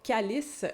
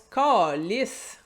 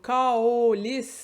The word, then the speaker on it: câlisse: Bien entendu, on prononce pas calice, on prononce calice. On note le diphtongue, caolis, mon A qui se transforme en O pendant que je le dis.